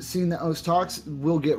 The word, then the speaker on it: osu!: Peps Man kind of beat it into my head that it's os, it's os, it's os. Pronounce it as os. You can't pronounce it as Osu, it's os.